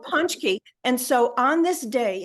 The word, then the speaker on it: pączki: have these donuts called pączki. It's not how it's spelled. It's got a Z and Polish letters are I'm crazy. letting you pronounce everything on Yeah. this show. But they're Yeah. called pączki.